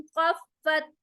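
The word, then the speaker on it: خَفَّتْ: वो अम्मा मन खफ्फत, खफ्फत, खफ्फत, खा में स्क्रैचिंग साउंड मोटा होगा। फत, फा के ऊपर शद आ रहा है, तो उसको हम सख्ती के साथ डबल टाइम प्रोनाउंस करेंगे।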